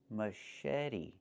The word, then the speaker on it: machete: Pronunciation machete machete The ch makes a soft sh sound like in fish. mush And then eddy. The t makes a fast d.